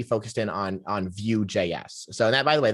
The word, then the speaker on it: Vue: focused in on on view js so that by the way that's spelt v-u-e uh which is uh the front i believe the french pronunciation for the word view which is v-i-e-w uh